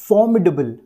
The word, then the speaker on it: formidable: तो देखिए फॉर्म्सीडेबल फॉर्म्सीडेबल अब ये वाली जो की साउंड है यह हमें बिल्कुल लाइटली प्रोनाउंस करनी क्योंकि ये बिल्कुल लाइट होता है और इसे हम अगर ठीक तरह से प्रोनाउंस नहीं भी करें तो भी जो है यह इजीली क कर जाता है तो फॉर्म्सीडेबल फॉर्म्सीडेबल फॉर्म्सीडेबल